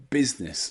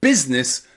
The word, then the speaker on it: business: a silent eye business business so remember in the word business the letter i is silent okay okay we talked